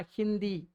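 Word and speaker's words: हिंदी: அதே மாதிரி ஹி தி ஹி தி ஹிதி அப்படிதான் படிக்கணும். ஆனா ஹிந்தி அப்படின்னு படிப்பாங்க. ஏன்?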